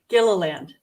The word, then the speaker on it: Gilliland: Gilliland.